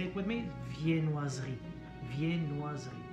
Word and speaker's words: viennoiserie: Viennoiserie. Viennoiserie. And same with the silent E. It's written Viennoiserie, but it's written, it's spelled.